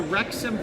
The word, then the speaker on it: Wrexham: to pull them up it starts with a w it's a silent w so it's w r e x u m soccer pull it up